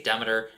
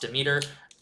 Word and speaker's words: Demeter: an official pronunciation guide I know I say dammiter and Dan wants it wants it to be pronounced Demeter all habits die hard I'll probably always pronounce it Demeter but do